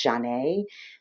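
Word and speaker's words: Zhané: to be around back in the 90s called john a that's spelled z-h-a-n-e it was two melanated women singing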